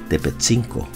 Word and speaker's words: Tepētzinco: El Taxco actual estaba asentado en el lugar que se conocía como Tepetzinco, pronunciado por los exploradores españoles de la zona como Tetelcinco, que quiere decir en náhuatl cerro pequeño.